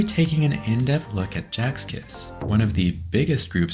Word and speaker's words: Sechs Kies: The name of the group, officially pronounced as Sechs Kies in Korean, according to Jinho, actually means 6 crystals in German, according to the German language.